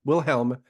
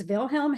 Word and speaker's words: Vilhelm: but will William uh willhelm hamers is that correct yeah it's vilhelm hammerhelm he is dangerous he